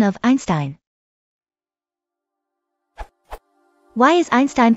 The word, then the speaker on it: Einstein: inconsistent first off Albert Einstein's surname is pronounced with a sh sound in his native Germany due to the second